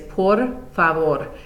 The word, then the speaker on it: por favor: For please, the pronunciation is por favor. This is a good place to start also working on that rolled R sound.